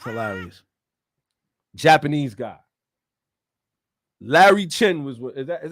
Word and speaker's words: Larry Chen: called support violent driving it's hilarious Japanese guy Larry Chen was what is that is that how you